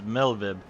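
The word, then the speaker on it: Merlwyb: of limsalominsa so it's melvib so the r is silent and the W is pronounced as a v okay all right on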